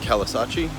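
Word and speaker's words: Caloosahatchee: Ford just has a little shack compared to Edison here oh this river here the I think it's pronounced Calais achi river drains out from like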